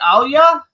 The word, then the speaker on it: Alya: me how do I is it Alia yes you did it perfectly you're one of the few people that actually pronounced my name perfectly from the first try so congratulations and